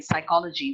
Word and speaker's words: psychology: I didn't get it, but I guess she means like when a letter is silent, like in psychology, when the P is silent.